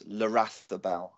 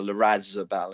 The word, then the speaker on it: Larrazabal: I'm going to reiterate that's Larrathabal, okay, or Larrazabal as it's spelled, because you don't even close your mouth there. You basically produce a series of vowels in between two L's, and it's hard to understand.